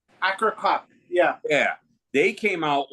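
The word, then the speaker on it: Akercocke: I think I pronounced their name wrong. It's Akakok. Akakok.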